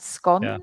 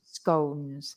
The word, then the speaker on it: scone: I say scon there are two two pronunciations from that scon or scones now I like scon do you um it's